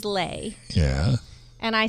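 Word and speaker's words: Leigh: oh you can't well she goes it's like slay so she says lay yeah and I say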